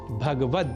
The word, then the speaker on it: भगवद: पर श्रीमद् भगवत गीता इसमें भगवत पद में ग का से संयुक्त अ स्वर का हम लोप कर देते हैं और कहा बैठते हैं भगवत जबकि शुद्ध उच्चारण भगवद ही है यह तो थी स्वर